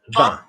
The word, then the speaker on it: vin: Vin. Vin. Good. Match my vowel. Vin. Vin. That's it. Good. Vibrate. Close your eyes. Vin. Vin. Nice vowel listening.